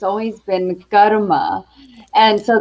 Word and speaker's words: karma: world pronounces it as karma but uh as i grew up it's always been garuma and so go ahead and roll those r's um but yeah